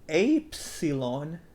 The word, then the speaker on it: Epsilon: It's not upsilon. And this one sounds like eps and salon almost. I don't want to go to a salon, so let's not go to a salon and call it apsilon, apsilon, apsilon, which sounds much cooler because there's apes in it.